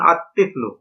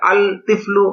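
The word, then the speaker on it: الطفل: তিফলুন আলিফ লাম যোগ তিফলুন সমান সমান আতফলু এখানে আল তিফলু এটা গলত উচ্চারণ লামটা উচ্চারণ হবে নাভাবে রজুলন আলিফ লাম যোগে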